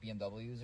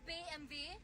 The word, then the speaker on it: BMW: what you don't like BMWs or something it's BMV not BMW wait what motor and